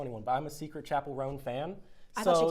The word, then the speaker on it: Chappell Roan: And Chappell Roan, that's how you pronounce it, right? Chappell Roan?